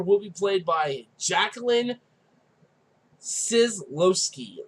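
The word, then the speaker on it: Scislowski: Starting off, the Yellow Ranger will be played by Jacqueline Sislowski. That's how I'm going to say her name. It's Sislowski. But she will be our Yellow Ranger.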